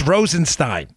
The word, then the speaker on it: Rosenstein: scandal quick synopsises rod Rosenstein Rosenstein who signed and got the guy who's emailing me i appreciate thank you very much I forget your name sorry it's Rosenstein trust me it's Rosen Stein I know you keep